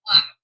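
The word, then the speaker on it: Bleigh: Okay, my name is Black, but it's spelled B-L-E-I-G.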